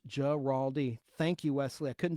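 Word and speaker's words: Guaraldi: chimes in Gerald geraldi in Vince geraldi is pronounced geraldi thank you Wesley I couldn't do it without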